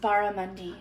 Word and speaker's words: barramundi: barramundi let me know how it is it's pronounced barramundi oh my bad sorry it's okay i've never